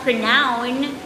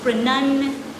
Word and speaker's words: pronunciation: pronunciation pronunciation all right it's not pronoun it's pronunciation right because this is speaking